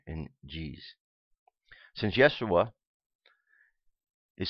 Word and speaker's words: Yeshua: the period was Yeshua the first sound of the second syllable Yeshua ish sound it is represented by the Hebrew letter shin however Greek like many